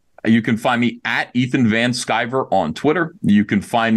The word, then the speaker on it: Van Sciver: that's awesome absolutely so once again he's Ethan van skyver he is the founder and I said it